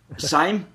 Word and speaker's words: Seim: um gav and gav I always get your last name mispronounced a little wrong it's Sim s yep s we got it this time